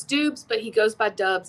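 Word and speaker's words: Doubs: as you know uh romeo do bay yes it's dubs but he goes by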